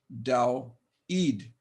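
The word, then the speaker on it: Δαυίδ: Daweed, 2 syllables. Notice Daweed. First syllable, Daw. Second syllable, Eid, Daweed. And I've accented the second syllable because that's where the accent mark was, as I showed you.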